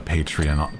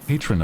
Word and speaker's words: patron: If I was wealthy I'd be like a patreon patreon patron of the arts that's how you pronounce it.